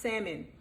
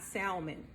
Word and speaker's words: salmon: And guys, some of you don't know, but it's pronounced salmon, not salmon. Okay, so the L is silent.